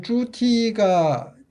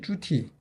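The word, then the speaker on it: 猪蹄: 이게 이제 쭈티가 돼지족발이라는 의미잖아요. 그죠? 돼지족발 의미인데, 이 발음이 쭈티하고 같아.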